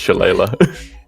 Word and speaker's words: shillelagh: the shillelagh this count I believe it's Leigh Leigh and III spoke how to pronounce it it's shillelagh and he's gonna give this